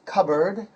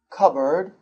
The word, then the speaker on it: cupboard: The word is cupboard. Cupboard. It's pronounced k-a-b-r-d. So you don't pronounce the P in the middle.